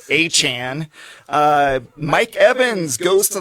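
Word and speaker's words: Etienne: Travis ATN changes his name pronunciation goes to the Saints and now it's Achan.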